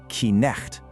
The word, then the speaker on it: night: Today, we just say night. We don't pronounce that K or the GH. But guess what? Centuries ago, people did. The historical pronunciation was something more like Knecht.